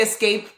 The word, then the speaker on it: escape: I don't know how you escape from a donut shop. This is terrifying, guys. It's a weird thing. So yes, don't say escape like EX, but say escape. ES.